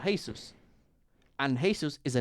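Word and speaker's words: Jesús: could see can write they don't don't pronounce G here and they write Jesus the same way so he's called hey sirs and hey sirs is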